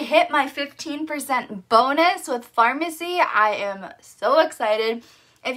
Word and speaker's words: Farmasi: It's called Farmasi, like, you know, where you get medicine, but it's spelled F-A-R-M-A-S-I.